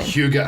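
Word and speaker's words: hygge: you're familiar with it Huga and it's not it's not spelled anything the way you pronounced it I had to look up the pronunciation Huga I do know it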